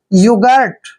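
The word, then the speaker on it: yogurt: देखिए YOU को हम क्या पढ़ते हैं? यू। और यहाँ पर जी का उच्चारण हम ग करेंगे, ठीक है, GU का उच्चारण ग करेंगे, आर को रे पढ़ेंगे और टी को टे पढ़ते हैं। आर जो है यहाँ पे रे के रूप में लगाएंगे।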